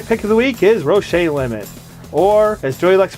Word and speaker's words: Roche limit: My pick of the week is Roche Limit, or as Joey likes to pronounce it, Roche Limit.